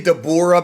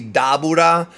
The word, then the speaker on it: Dabura: that's the pun um you know people say dor because that's kind of like the FUNimation pronunciation but it's supposed to be daura that's how they pronounce it in Japanese uh